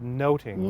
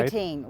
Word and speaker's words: nothing: Ado About Nothing, but in Shakespeare's time it would have been pronounced more like Much Ado About Noting, right? Noting, which means observance or perceptions or overhearing.